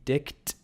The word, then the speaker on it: dict: a dictionary is to use the dick make sure I pronounce that T very clearly get in trouble here the dict function which is just